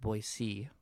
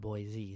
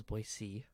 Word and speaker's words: Boise: to take up four Boise which actually is pronounced Boise not Boise so it's Boise and it talked about how we or at